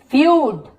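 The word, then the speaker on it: feud: फिर देखिए फ्यूड, फ्यूड, क्योंकि यहाँ पर यू उच्चारण हुआ ना ईयू का, देखिए फ्यूड, पुश्तैनी दुश्मनी,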